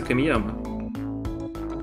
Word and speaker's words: Камияма: Это произносится Камияма.